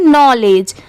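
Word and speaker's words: knowledge: बट नहीं यहां पर पढ़ते टाइम के साइलेंट होता है। इसे सिर्फ क्या पढ़ा जाता है? नॉलेज।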